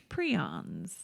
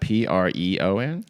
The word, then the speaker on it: prion: prions. Prions. How do you spell that? Preon?